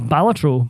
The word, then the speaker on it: Balatro: I have never played Bellatro once in my life. Don't play a cult. Did you see? According to Mr. Ben Star, we've all been saying it wrong. Yes, it's Batro.